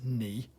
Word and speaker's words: knee: example they give is knee okay the k is silent so what you have